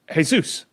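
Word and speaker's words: Jesús: Because it's pronounced Jesus.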